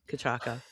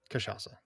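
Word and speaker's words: cachaça: I'm gonna use the the the US pronunciation or whatever the is the American one is kachaka and I know you've been using kachasa. Yeah. Kachasa, which is supposed to be the Brazilian whatever.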